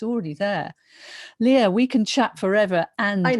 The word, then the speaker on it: Leaha: world so and also just note my name is spelt very funny my mom had a good sense of humor it's leah is l-e-a-h-a like leah and then o